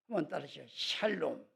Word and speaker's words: 샬롬: 아름다운 인사 가운데 하나가 샬롬 이게 발음을 잘해야 돼요 살로 먹는 욕 먹어요 샬롬은 뭐냐면은 이스라엘 사람들이